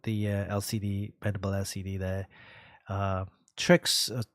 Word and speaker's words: TRYX: Trix, TRYX, if you want to call it. If you pronounce it as Trix. Yeah, Trix, yeah.